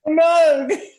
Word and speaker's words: Moog: How do you pronounce it? Moog. No, the other one. Moog. Moog.